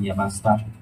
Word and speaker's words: Yamashita: My family name is Yamashita. In Japanese pronunciation, Yamashita. One of the field evangelists under the Ambassador for Christ Philippines Evangelism Incorporated with the license number 2E9M3GEEL-2025.